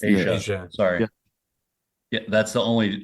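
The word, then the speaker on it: Aja: gonna say it right AIA am I saying it wrong yeah Asia I think it's Asia sorry yeah that's the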